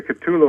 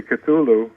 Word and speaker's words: Cthulhu: to him it's funny you say culu I say cthulu but um Lovecraft said that it's a word that cannot be pronounced correctly with a human larynx oh really yeah it